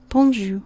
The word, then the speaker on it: bonjou: phonetically it's delightful so good morning is bonjour bonjour remember j is a sound bonjour good afternoon is um